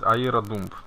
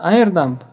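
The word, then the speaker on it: airodump: Название сети, по какому каналу, шифрование ключа, мы должны запустить AeroDump для того, чтобы взять MAC-адрес от той сети, в которой будем ломать. Не произносится Aero. Это О, она не читается. AirDump.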